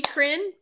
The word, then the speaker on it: Chrin: us okay say it again so I'm crin and um c-h-r-i-n and I as and myself publisher entrepreneur and I've been doing that since 2018.